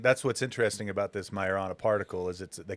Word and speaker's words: Majorana: They pronounced it Majorana. Majorana.